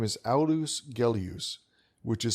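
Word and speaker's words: Aulus Gellius: For those who want to find out more about the author of today's reading, his name is Alus Gelus, which is spelled A U L U S G E L L I U S.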